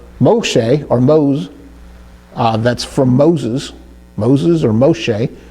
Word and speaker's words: Moshe: It gives an E type of sound. Moshe, Moshe, mem, sheen, and hey, Moshe.